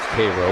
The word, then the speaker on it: Cairo: Pitch Low two and two because Cairo, Georgia, spelled, by the way, like Cairo, Egypt, but pronounced Cairo by the is where Jackie Robinson was born.